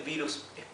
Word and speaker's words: virus: pronuncia virus virus sí Recuerden que si tenemos una vocal seguida de una consonante simple y luego otra vocal entonces la primera vocal adquiere el sonido largo si por eso Esto no se lee virus se lee virus porque la i tiene el sonido la pronunciación larga de la i verdad virus sí bacteria